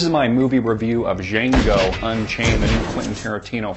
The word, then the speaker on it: Django: about this film is jeno what's that what kind of name is that well what you need to know about it is the D is silent you'll know what I